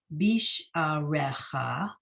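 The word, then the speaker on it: בִּשְׁעָרֶיךָ: Then the next line he shows us, bisharecha. Again, the yud is silent. And when you look to the left, you see one less letter, bisharecha.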